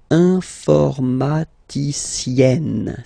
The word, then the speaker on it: informaticienne: And then, if you look carefully, then here, okay, you will have to double the N and then add this final E. Okay? And you get the sound informaticienne. Sienne.